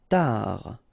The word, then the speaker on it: tard: Tard. Final D not pronounced.